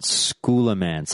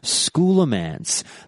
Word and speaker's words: Scholomance: have heard me when I was reading out schooler mance I said schooler mance instead of scholomance I